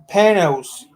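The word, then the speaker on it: Panoz: Panos.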